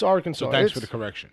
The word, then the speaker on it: Arkansas: you know that didn't deserve it well it's Arkansas thanks for the correction its Arkansas it's the arch enemy of Kansas where the